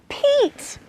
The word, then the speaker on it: Pete: short e sound ah so now if we put the magic e on it it's gonna make this short e sound into a long e sound so it goes from sounding like ah to e that's right so it spells the word Pete oh it looks like Pete's